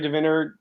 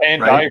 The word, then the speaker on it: Vandiver: And then Jerry and I, Jerry DeVinner, John, I keep pronouncing his name wrong. Jerry Vandiver? Why do I say his last name wrong? It looks like Van Diver. Van Diver, right? Yeah, Van Diver.